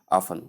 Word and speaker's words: often: Simply say often with a silent T. Even though the two are correct, the one most I mean the one more correct is often without the T pronounced.